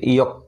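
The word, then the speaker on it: yolk: একই রকম করে ইয়ক, ওয়ার জন্য রসই, আবার ওর জন্য অ, তারপর এলকের জন্য এখানে শুধু ক, এখানে এল এর উচ্চারণ নেই, ঠিক আছে।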